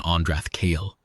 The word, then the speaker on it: Andrath Kale: "Yes, I wanted to be certain of the stress pattern on Andrath Kale. The second syllable of kale carries the emphasis per the funological notes in section 32's appendex."